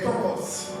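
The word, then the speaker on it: πτωχός: Le mot pauvre, en grec, c'est tokos. Ça s'écrit P-T-O-C-H-O-S.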